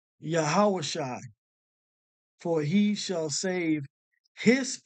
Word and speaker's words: Yahawashi: you his name is yahawashi and how to pronounce it truly as yahawashi okay you have to go into these languages